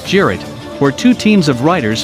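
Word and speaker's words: Cirit: The weapon's name comes from a traditional Turkish horseback game, Sirit, pronounced Jirit, where two teams of riders fight a mock battle using wooden javelins which are called Sirit.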